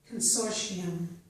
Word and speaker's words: consortium: This word can be pronounced consortium with the sh sound. It has a second pronunciation, which is without the sh, and instead has a t sound.